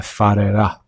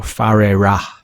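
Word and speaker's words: Whare Ra: or better known as the Wharera, or Wharera, depending on who pronounces it, in New Zealand, which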